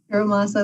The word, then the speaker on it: Hiramasa: Councilmember Lukman, I just want to say it right, Hiramasa? Hiramasa, that's correct.